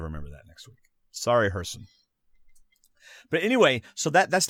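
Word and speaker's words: Gerson: right Oh hjerson pagan GE RSO n is pronounced hjerson okay so I won't remember that next week but I'll try to remember that next week sorry Herson but anyway so that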